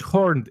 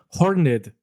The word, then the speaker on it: horned: Claro, no es horned, es horned, porque la E tiene acento. Cuenta como una sílaba más.